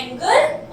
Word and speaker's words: angle: now this is angle and this is angel, दोनों की जो स्पेलिंग होती है वो फॉर्म जो है सिमिलर है, बस ई और एल में डिफरेंस है, बट बोलते क्या है, एंगल और इसको एंजल।